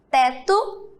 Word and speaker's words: teto: Mas vocês estão observando que quando eu pronuncio essas palavras, o som do O não sai? Eu pronuncio e sai o som do U, ó.